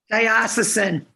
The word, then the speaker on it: diocesan: pronounced it for me diocese diocese there's an n on that word though diocesan oh thank you dyacin